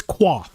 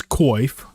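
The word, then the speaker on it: coif: __ ] okay it's qua the modern version is koif but it's pronounced qua that is the original sound I will say qu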